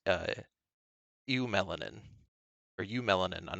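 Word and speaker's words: eumelanin: because you were right it is pronounced you melanin but i don't know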